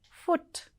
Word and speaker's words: foot: So the first word here is foot. Though there is double O here, it is still pronounced as short U.